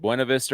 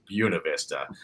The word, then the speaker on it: Buena Vista: For whatever reason, they've told me 80 years ago, there are bumper stickers here that will tell everybody it's Buena Vista. They know it's not the right pronunciation.